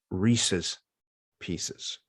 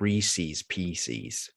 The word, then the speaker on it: Reese's Pieces: so it's kind of like it has it's pronounced reese's pieces it's not reese's pcs it's reese's well pcs is not a word